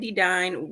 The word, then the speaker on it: Dedine: Hey, if you don't know me, my name is Dedine, rhymes with divine.